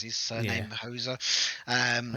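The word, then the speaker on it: Houser: And the lead team was, I think it was Dan Hauser, or is that how you pronounce his surname? Yeah. Hauser.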